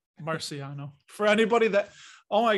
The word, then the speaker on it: Marciano: Did I say it right? Marciano? You got it. Spot on. Like Rocky, right? Exactly like Rocky. Marciano.